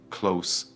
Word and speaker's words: clothes: pronunciation of the word clothes again because it is difficult. It is 1 syllable, not 2. It sounds exactly like the word close in, close the door. Do not say clothe, just say close.